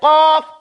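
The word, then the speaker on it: قاف: So I want you to say qaf, calf. Upper part of your mouth, closer to the exit, up in the front, and an angle out.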